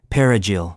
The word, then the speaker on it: perejil: They asked residents to pronounce the word perejil, Spanish for parsley. Those who couldn't roll the R properly were presumed Haitian.